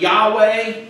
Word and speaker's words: Yahweh: But the Hebrew word would be pronounced something like Yahweh.